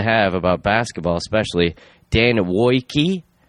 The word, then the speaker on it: Woike: My guest this week, great guest to have about basketball, especially Dan Woike, which is spelled W-O-I-K-E, but I guess it's said like W-O-Y, Woike.